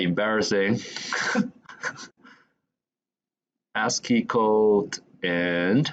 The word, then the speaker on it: ASCII: ask code I got to know it's called ask pronounce the ASCII instead of ask to I learned in China